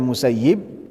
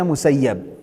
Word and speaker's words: Musayyib: Ada yang bacanya Musayyib, ada yang bacanya Musayyab.